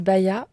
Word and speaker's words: Baya: Alors moi, tu peux me retrouver sur Insta sous le nom de Baya, photographe. Donc Baya, ça s'écrit B-A-Y-A.